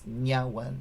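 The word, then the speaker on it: niá:wen: between them and um when you have an n inside a word like if we have a word that starts with an n like the word for thank you is nya one so it's like an n uh but when it's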